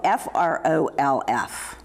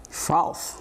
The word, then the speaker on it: frolf: It's called F-R-O-L-F. Frolf.